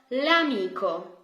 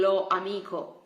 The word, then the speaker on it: l'amico: So, l'amico. Can you hear? It sounds much better than lo amico.